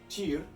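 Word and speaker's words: Týr: Tyr is a T, and it's tyr, not tier, I misspoke.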